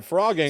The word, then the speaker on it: phrogging: The word is pronounced like the animal frog, though it begins with a PH.